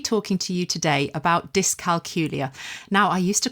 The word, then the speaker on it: dyscalculia: So I stand corrected and I'm going to be carrying on trying to remember to call it that from now on.